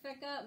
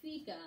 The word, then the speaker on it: fika: I know some of you are saying fika. My understanding is it's fika, but no matter how you say it, what it means is a Swedish coffee break.